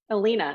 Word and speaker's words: Allena: Allena. I had a feeling I was mispronouncing the Oh, E.